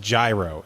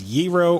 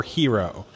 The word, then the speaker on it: gyro: the greek food hero is most definitely not pronounced gyro it is giro or hero i don't know where